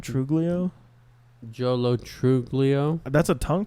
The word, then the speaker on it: Truglio: Truglio.